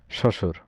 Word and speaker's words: শ্বশুর: উত্তর হচ্ছে শ্বশুর। ব ফলার উচ্চারণ নেই শ্বশুর শব্দে।